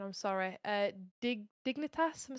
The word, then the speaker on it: Dignitas: So I'm probably going to butcher the pronunciation. I'm sorry. Dignitas.